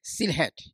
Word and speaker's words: Sylhet: And how nicely you have pronounced my native land, Sylhet.